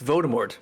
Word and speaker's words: Voldemort: The L is silent in Voldemort too. It's Voldemort.